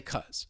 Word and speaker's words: because: are comfortable just saying because. There's nothing wrong with it. It's perfectly fine. But for your listening comprehension, you may hear somebody reduce it and they'll just say cuz. So instead of because, cuz.